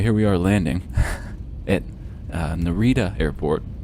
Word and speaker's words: Narita: Anyway, here we are landing at Narita Airport, or Narita, if you like pronouncing things with the rolling R sound, as they do in Nippon.